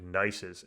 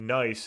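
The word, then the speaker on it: gneiss: are what's called these metamorphic nices and nice is spelled g-n-e-i-s-s that's how us geologists you know use the term nice these are really old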